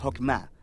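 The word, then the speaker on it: חכמה: hacemos Qué es esta fuerza en hebreo se pronuncia hokma y usualmente se traduce al español como sabiduría es un atributo de Dios que Dios usó para crear al mundo y hokma ha sido entretejida en la tela de las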